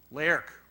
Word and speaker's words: Lerch: And finally, Lerch wrote, so Lerch is Bohemian, and I understand his name is pronounced, Bruce Barrett will pronounce it for me. Lerch.